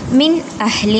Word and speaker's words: من أهل: Then കഫറു മിൻ അഹ്ലി അവിടെ സുക്കൂനുള്ള നൂനിന് ശേഷം ഇൽഹാറിൻ്റെ ലെറ്ററായിട്ടുള്ള അംസ വന്നതുകൊണ്ട് അവിടെ നമ്മൾ മിൻ അഹ്ലി എന്ന് തന്നെ പാരായണം ചെയ്യുക. ആ നൂനിനെ വ്യക്തമാക്കിയിട്ട് പാരായണം ചെയ്യാം. അവിടെ മണിക്കേണ്ട ആവശ്യമില്ല.